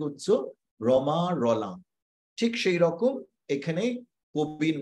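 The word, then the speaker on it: Romain Rolland: যদি ইংরেজি বানান করে যদি তুমি প্রত্যেকটি অক্ষরের উচ্চারণ করো তাহলে হবে রোমান রোল্যান্ড কিন্তু সেই রোমান রোল্যান্ডটাকে তুমি কি উচ্চো রমা রলাং ঠিক সেই রকম এখানে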